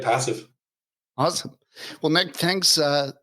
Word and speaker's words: Passiv: talk to Nick this morning and did I pronounce that correctly passive yeah that's right passive awesome well Nick thanks uh thanks for coming